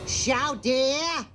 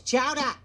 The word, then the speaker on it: Chowder: Chow dear! Chow dear! It's chowder! Say it right!